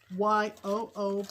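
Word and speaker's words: Yoo: our friend chris yo spelled y-o-o pronounced yo yes and she lives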